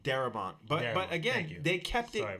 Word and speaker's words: Darabont: No, but I think I might have said his name wrong. Darabont.